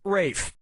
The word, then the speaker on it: Ralph: one yep RAF Fine's first name is spelled like Ralph but pronounced Rafe and his brother Joseph